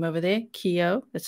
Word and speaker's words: Keogh: Keogh, that's how you say it.